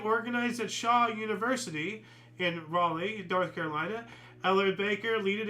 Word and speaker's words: Raleigh: It's Riley or something, right? It has to be North Carolina or something. Raleigh.